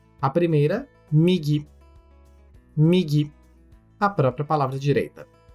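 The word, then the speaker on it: みぎ: A primeira, migi.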